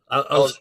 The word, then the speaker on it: Elizondo: I always get the name wrong. Yeah, Elizondo.